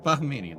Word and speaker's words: Bahamian: How much how much of an inclination difference is the Bahamanian Bah Bahamian Baham Bahamian that's how you say it from the initial